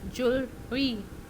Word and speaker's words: jewelry: सो किस तरह से किया गया है, JOOEL and then dash and RE, jewelry, jewelry.